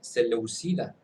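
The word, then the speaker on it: Seléucida: El fuerte sentimiento antieleno estando bajo la ocupación Celeucida. Sí, así se pronuncia, ¿eh? Celeucida con sede de casa, Celeucida, que llegó a prohibir la enseñanza y práctica del judaísmo.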